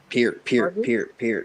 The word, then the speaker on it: Peart: Keep ribbon in heaven, Neil Peart. Jesus, I did it. Close. Peart. I gotta drill that into my brain because I keep saying it wrong.